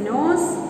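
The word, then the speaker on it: knows: K-N-O-W-S, nose. N-O-S-E, nose. These both are pronounced the same way.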